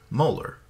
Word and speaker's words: molar: The unit is abbreviated with a capital M and is pronounced molar.